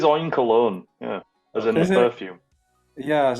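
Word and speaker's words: Oinkologne: that pig Pokemon again I said o colog I think okay it does look like oink cologne doesn't it it is oink cologne yeah in perfume yeah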